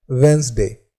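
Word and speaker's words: Wednesday: शीघ्र व होता है वेनसडे यहां पर डी और ई दोनों साइलेंट होते हैं और इससे रिलेटिड सेंटेंस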